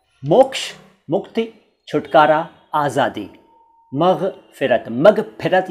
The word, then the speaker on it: मग़फ़िरत: अब देखिए, मग़फ़िरत दो तरह से लिखा है मैंने, ये दोनों ही तरीके सही हैं, लेकिन ज़्यादातर चलता है ऊपर वाला, यानी पूरा ग और उसके नीचे नुक्ता और फ के नीचे नुक्ता, मग़फ़िरत।